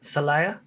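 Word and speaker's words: Celaya: like that in the city of salaya i believe that's how you say it salaya guanajuato state and whenever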